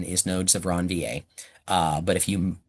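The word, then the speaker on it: Ranvier: Uh, his name is Ronvier because it's French and that's how you say that name in French, Ronvier. However, everybody pronounces it Ronvier.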